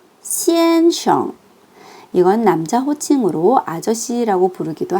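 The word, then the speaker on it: 先生: 자, 앞에는 일성, 뒤에는 경성으로 발음할게요. 시엔숑, 시엔숑.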